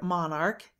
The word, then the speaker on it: monarch: do you mean by ch pronounced soft as it is pronounced in the word church in the word monarch it is said to be pronounced hard and then only s